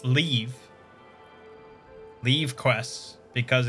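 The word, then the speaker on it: leve: uh okay the old leaves yeah yeah side quests yeah i i know um so i did learn it's pronounced leave leave quests because it's like the old spelling of the word leave and because are you're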